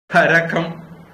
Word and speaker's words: கரகம்: உள்ள முத்துக்கள் அடுத்தது கரகம் கரகம் அப்படிங்கறது உச்சரிப்பு கரகாட்ட கார கரகம் அது வந்து கரகம் கரக்காட்டா காரத்துல வரக்கூடியது சாதா கரக்கம் கரக்கம்னா படம் கும்பம்